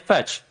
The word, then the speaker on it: Fech: just we're just gonna yes like fetch yeah exactly patch pronounced like patch yes exactly you know